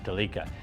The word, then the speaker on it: Delica: up and a JDM Delica it's spelled like Celica but they pronounce it like Canadians do Delica anyway it's been featured